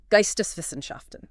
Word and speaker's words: Geisteswissenschaften: But he was also steeped in this other academic tradition, let me get the pronunciation right, Geisteswissenschaften.